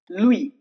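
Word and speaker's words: Louis: Louie here also jed is silent.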